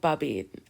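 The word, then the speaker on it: Boubede: So it's John Bow Bubbied.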